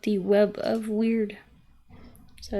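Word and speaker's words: wyrd: In Norse mythology, we have what's called the web of weird. So it's the web of weird. Weird. Weird is spelled W-Y-R-D.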